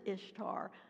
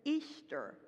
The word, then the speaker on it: Ishtar: the worship of Ishtar we pronounce it Ishtar they pronounced it Easter she was the goddess